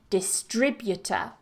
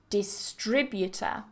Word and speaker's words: distributor: and competitive distribution distribution however watch it with the next one distributor distributor so the stress changes with these two distribution distributor number 27 there are two